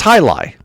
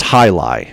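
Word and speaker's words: jai alai: So it's So it's spelled J A I A L A I and it's pronounced high lie.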